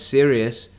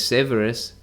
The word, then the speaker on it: Severus: time for some reason i always remembered it as serious but it's severus yeah so that's fun